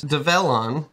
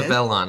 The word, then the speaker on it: Develon: So my next question is Develon. Did I pronounce it right that time? You did. Develon.